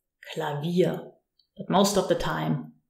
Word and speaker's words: Klavier: And Klavier is such an example, where we use the V like a V, Klavier.